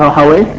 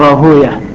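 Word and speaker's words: Rahwayh: Sebagian membacanya Rahawai yang masih dalam aslinya, sebagian menghindari dari nama itu karena beliau adalah seorang ulama, maka disebut dengan Rahawiyah.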